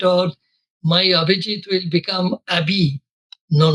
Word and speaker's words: Abhijit: could I always insist whenever I speak please pronounce my name properly. Abijit no shortcut and always the conference chairman